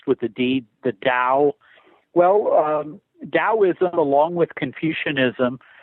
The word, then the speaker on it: Tao: Taoism sometimes it's spelled with the T but pronounced with the deed the Dow well taoism along with Confucianism are considered the